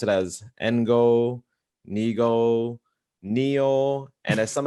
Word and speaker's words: Ngo: So to anybody listening, our last name is pronounced as one syllable, Ngo, like gnocchi.